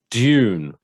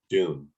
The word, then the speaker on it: Dune: new controversial conversation so i being an english person pronounce this dune okay i as an american pronounce it doom but i got so